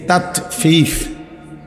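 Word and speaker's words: تطفيف: তাতফিফ শব্দের অর্থ হলো, মানে তাতফিফ বাংলা কথা শব্দটা বুঝছি না উচ্চারণটা, ত আকার তা, ত তাত, ফ দীর্ঘিকার ফি, ফ ফিফ, এই তাতফিফ, এই হলো শব্দটা।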